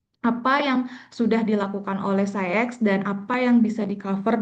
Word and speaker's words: SCIEX: Nah, di sini di PT Mulia Sejahtera Scientific kita membawa satu brand, yaitu SCIEX. Tulisannya mungkin orang bingung suka baca CIEK atau SAIK gitu. Jadi kita bacanya SciEx.